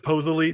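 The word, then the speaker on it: pozole: um we had some posole it was really good yeah it's pronounced posily thank you very much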